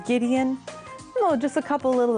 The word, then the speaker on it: Gideon: exceptions for example Oh words that are from German quite often for example girl we have the hard G or you have like proper names from Hebrew such as Gideon so just a couple